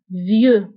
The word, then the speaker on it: vieux: بالنسبة لvieux كنكتبوها بإكس في آخر الكلمة لكنها لا تنطق vieux.